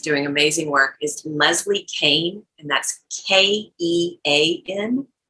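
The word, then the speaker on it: Kean: amazing work is leslie kane and that's k-e-a-n it's not spelled like it's pronounced uh or it doesn't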